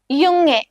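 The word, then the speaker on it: Junge: യുങ്ങെ.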